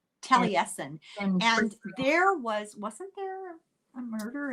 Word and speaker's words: Taliesin: I mean, I don't know how else you pronounce it. It's Taliesin. Taliesin.